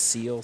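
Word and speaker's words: Ciel: Uh, but there's a band called I think it's pronounced Seal, C I E L.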